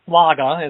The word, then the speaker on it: Schlage: So it would be a mortise lock, Schlage mortise lock, or Flagge, as the Germans would pronounce it.